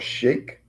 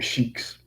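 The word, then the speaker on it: Sikh: Some of them are shake. That's s e i kh. I believe I'm pronouncing it right. Shake. The ones that wear the turbans. They call them shakes. Um or shik.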